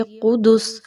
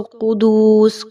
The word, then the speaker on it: قدس: خاص توجہ دیجیے۔ قدس، اب بہت سے لوگ اس کو قدوس، قدوس اس طریقے سے پڑھتے ہیں، تو یہاں پر آپ نے خاص خیال رکھنا ہے کہ قاف اور دال دونوں کے اوپر پیش کی حرکت ہے، جبکہ سین کے اوپر ہم جزم کی علامت لگا دیں گے وقف کی صورت میں تو یہ ہو جائے گا قدس۔ اوکے، تو ابھی آگے